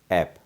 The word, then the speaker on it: ऐप: में कहा जाता है ऐप। लेकिन हमने अक्सर देखा है कि इसको बोलने में कई लोग एप का उच्चारण कर देते हैं।